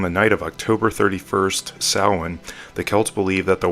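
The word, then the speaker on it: Samhain: Some pronounce this as Sam Hayne, but its Gaelic pronunciation is sin.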